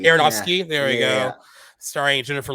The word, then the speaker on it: Aronofsky: How do you pronounce his name? Aronofsky. Aronofsky.